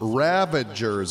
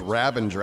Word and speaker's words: Ravager: Okay, led those ravagers away. I thought it was ravenger. I was saying it wrong the whole time. It's ravager. Ravager. Not Ravenger.